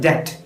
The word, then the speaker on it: debt: The actual pronunciation is debt. B silent ആണ്.